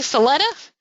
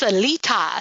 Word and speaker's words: Salita: name phonetically so that those of you that say selective it's Salita Salita that sets for some